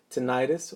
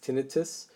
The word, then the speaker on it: tinnitus: In a study in 1998, Molnackel and his colleagues found that tinnitus, or you also hear it pronounced as tinnitus, produces a major reorganization in the primary auditory cortex.